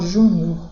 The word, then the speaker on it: júnior: Então, ó, júnior, sílaba tônica ju, e quando eu falo juniores, sílaba tônica o.